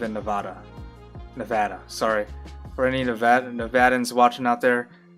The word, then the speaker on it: Nevada: Sorry for any Nevadans watching out there. Sorry for mispronouncing Nevada. It's not. They get mad. Nevadan natives get mad when you don't pronounce the state right. It's Nevada. It's not Nevada.